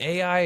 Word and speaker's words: Ai: And is it AI or I? Is there a good way to pronounce it? Well, um, the the rest of the world says I and the American world, we tend to say AI.